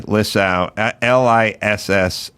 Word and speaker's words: Lissow: Jamie Lissow, Lissow. Yep, that is correct. And you pronounced it correctly.